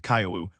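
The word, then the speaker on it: 今日: For instance, the word for today pronounced Caillou was still spelled as KEU, reflecting the language of the Hyen period.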